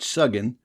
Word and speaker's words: suggin: On inquiry, I learned that old Ned is merely slang for fat pork, but that suggin, or sudget, the U pronounced like the O in look, is true mountain dialect